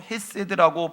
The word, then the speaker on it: 헤세드: 인자함이란 히브리 원어로 헤세드라고 발음을 합니다.